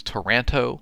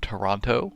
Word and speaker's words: Toronto: Oh, and Max, you said it is Toronto, not Toronto. I will try to pronounce that correctly.